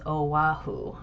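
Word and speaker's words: Oʻahu: Yes, it is pronounced as Oahu.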